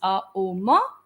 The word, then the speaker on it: Om: moment with this chant Om. Once again, I'll tell you, it's a combination of 3 syllables, Om. You will say O till the midpoint and Ma till the rest of it.